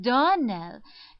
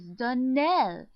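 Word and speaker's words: Donnell: you pronounced our name Darnell now Miss Shirley the correct pronunciation of our name is Daniel Accent on the last syllable I hope you remember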